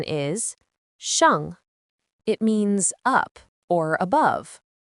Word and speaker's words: 上: Its pronunciation is shàng.